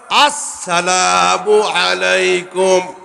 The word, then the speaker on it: আসসালামু আলাইকুম: আস সিনটা উচ্চারণ হয় না, আলিফ এবং সিনটা উচ্চারণ হয় না। আসসালামু আলাইকুম, আবার দেন।